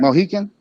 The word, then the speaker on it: Mohican: Mohican? How you say that? Eagle? You're saying it right. Huh? You're saying it right. Mohican?